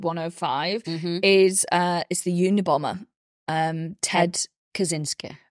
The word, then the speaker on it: Kaczynski: Ted Kaczynski. Sometimes pronounced Kaczynski, which is the original way to pronounce it, but Kaczynski is how it is pronounced.